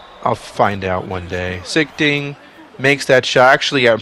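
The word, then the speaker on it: Sichting: in the game secting I think his name is not pronounced sick thing I'll find out one day sigting makes that show actually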